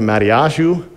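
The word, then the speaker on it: מתתיהו: Now, if you said, I need to talk to Matiashu, then they would be like, oh, yeah, that's who I'm talking about. Why? Because that's how you say it in Hebrew.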